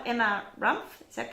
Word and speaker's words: Rumpf: I'm going to hopefully I pronounce this right. Emma Rumpf, is that correct? Yep, Rumpf, that's correct.